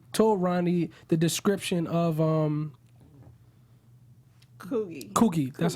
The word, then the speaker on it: Coogie: Like, he's the one who told Ronnie the description of Coogie. That's how you pronounce his name. Of Coogie.